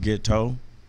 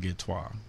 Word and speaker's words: Ghetteaux: i spell it okay the way it's spelled is really pronounced git toe but i call it get toi because it's kind of bougie so it's a g-h-e-t-t-e-a-u-x